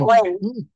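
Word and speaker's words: when: এটা আমরা প্রোনাউন্সিয়েশনে দেখেছিলাম, হোয়েন বলবো না, কি বলেছিলাম সেদিন? হোয়েন, হোয়েন। ওয়েন।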